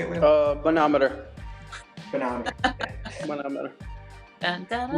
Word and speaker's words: manometer: Manometer.